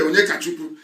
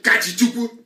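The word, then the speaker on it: Onyekachukwu: His name is Ibe Onyekachuku, but he doesn't want to sound Igbo. So he will say his name is Ibe Kachichuku.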